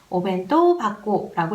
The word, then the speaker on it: お弁当箱: 하코는 상자, 통이라는 뜻인데 그 오벤토라는 그 명사랑 하코, 상자라는 명사랑 만나서 도시락 통으로 쓰일 때는 이 하코의 하자가 타금, 바자로 소리납니다. 그래서 오벤토 바코라고 읽어주셔야 되고요.